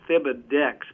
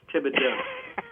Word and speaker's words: Thibodeaux: By the way, you could pronounce my name. It's like Thomas. It's Thibodeaux. It's very, very hard to pronounce. It looks like Thibodeaux, but it's Thibodeaux.